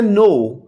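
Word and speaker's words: know: अब इसे हम पढ़ते हैं नो, तो हालांकि इसमें के है, हम लिखते हैं लेकिन इसे प्रोनाउंस नहीं करते, तो के इसमें साइलेंट है, नो।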